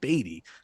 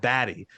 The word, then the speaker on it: Baty: I don't know if you know something we don't, but I believe his pronunciation is Baty. You said Batty.